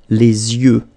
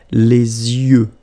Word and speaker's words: les yeux: Okay, so l'œil, singular, and then the plural, les yeux. Okay, you make this liaison between the two, les yeux. Okay, final X not pronounced, les yeux.